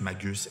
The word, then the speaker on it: magus: À ce moment, le mot se prononce magus et est visible sur les exploits du roi Darius 1er, ayant renversé un homme d'image du nom de Gomata.